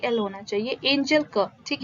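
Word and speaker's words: Engel: curve is देखिए ये एंगल नहीं है इसका spelling E एन जी ई एल होना चाहिए एंजल कर्व ठीक है एंजल कर्व का क्या मीनिंग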